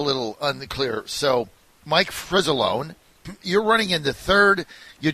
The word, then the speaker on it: Fricilone: his name right Mike Mike tell me how we say your name actually alone as usual I say it with a Z Kenneth Z alright first